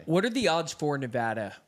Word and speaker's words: Nevada: are the odds for Nevada right now Market is showing 92% for Trump to win Nevada Nevada got it you're pronouncing it wrong now it's Nevada chat is gonna punch